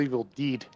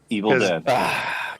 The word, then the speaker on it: Evil Dead: I have a question is it pronounced evil dead or evil deed Evil Dead godamn it you know